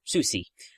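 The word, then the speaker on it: Soucie: or Susi I'm not quite sure how to pronounce her last name oh Susi there we go thank you for pronunciation guides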